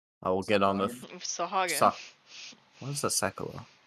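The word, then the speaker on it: Sahuagin: Sahagin. Sa- what is a Sekula? The god. No. Sekulas. Oh, right. Sorry. I will also accept Sahurgan if you want to pronounce it wrong.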